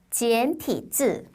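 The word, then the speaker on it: 简体字: 간체자는요, 중국어로 발음을 하면 지엔티즈, 지엔티즈라고 발음을 하는데요.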